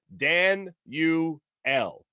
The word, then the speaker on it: Danuel: and wouldn't you know the pronunciation guide it gives you is dan u l danielle house with the